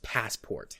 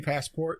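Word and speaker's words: Passepartout: pronounce it I'm different his name is actually pronounced passport Oh what was it sure it's like yeah okay is that who's supposed to be passport because I'm yeah but yeah no his name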